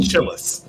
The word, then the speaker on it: Chili's: I've got a No, Chili's down the road. it's pronounced Chillis.